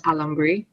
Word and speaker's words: alambre: I don't know how to pronounce it, but like phonetically, it is alambre.